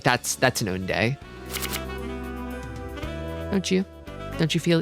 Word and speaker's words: Oonday: I keep telling people, like, if there was like a Koi soul that was like Mahjong soul level, so that's how you pronounce Oonday.